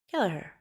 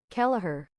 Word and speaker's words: Keller: The affient detective killer. Did I say it right? Keller. Keller. Bam. Got it.